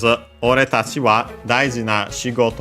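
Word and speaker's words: 俺たち: So in our case here, from ore, which was an accent, we get ore tachi.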